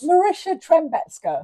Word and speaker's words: Marysia Trembecka: And Marysia Sorry, Trembecka. you call me what you want, Kelly. Trembecka. Am I close? Marysia Trembecka. Oh, Trembecka. I was hard. so close. And the way you pronounce it is nothing like it's spelled either,